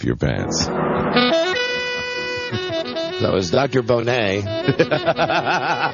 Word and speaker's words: Bonnet: Bonnet. It's the French pronunciation of his word, of his name, the word Bonnet.